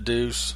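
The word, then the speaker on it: Deus: stuff as as his dais they de us whatever yeah the deuce you said it right I did did I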